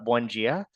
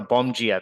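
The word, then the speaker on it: Bom dia: pretty limited but uh buia I or no Bonia that's it I think I said it right now um but if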